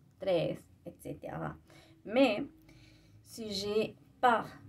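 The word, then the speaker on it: tres: Alors, on prononce le S final aussi. 3.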